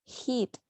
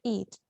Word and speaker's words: eat: eat okay because uh you pronounce it as hit yes you are like a he maybe you don't notice you don't notice it but it sounds it sounds like that so remember shouldn't eat shouldn't eat or shouldn't